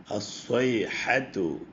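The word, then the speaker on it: الصيحة: ബിസ്മില്ലാഹി റഹ്മാനി റഹീം ഇതിലും ഉച്ചരിക്കാൻ കൂടുതൽ ശ്രദ്ധിക്കേണ്ട അക്ഷരങ്ങൾ വന്നിട്ടുണ്ട് സ്വാദും ഹായും അസ്വൈഹത്തു പിന്നെയും വീണ്ടും സ്വാദും ഹായും വരുന്നുണ്ട് മുസ്ബിഹീൻ മുസ്ബിഹീൻ സ്വാദും ഹായും എപ്പോഴും ഉച്ചാരണം വളരെ ശ്രദ്ധിക്കേണ്ടതാണ് അല്ലെങ്കിൽ അത് അറിയാത്തവർ അത് പഠിച്ചെടുക്കേണ്ടതാണ് അൽഹംദുലില്ലാഹി റബ്ബിൽ ആലമീൻ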